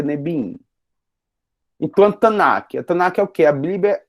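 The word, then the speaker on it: נביאים: Por isso que vocês já estão vendo Neviim, né? Mas mesmo assim a gente pronuncia Nebiim.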